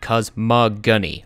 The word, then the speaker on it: cosmogony: through cosmogony that's right it's pronounced with a hard G cosmog guny I looked it up and I got it wrong in the the first episode of this playthrough but in